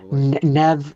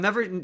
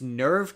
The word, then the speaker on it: Neve: it's it I I'm never sure how to pronounce it cuz I my brain always wants to put in an R. So it's Nerve Campbell but I think it's Nev Campbell.